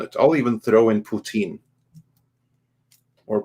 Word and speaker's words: Putin: I'll even throw in Putin. Or Putan. I'm not quite sure how No, I it's think you said it pronounced. right the But yeah, first time. Yeah, I think Putin.